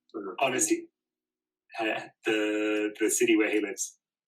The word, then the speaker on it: Annecy: Annecy. Annecy.